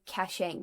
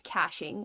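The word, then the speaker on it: caching: I'm big on I always want to say cashaching, but I think the right way to say it is cashing where you like actually store stuff in another place.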